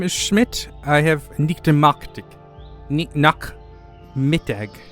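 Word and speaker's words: Nachmittag: Nak Mittag. Not Mittag. Nak Mittag. Nak Mittag. Okay, Nak Mittag.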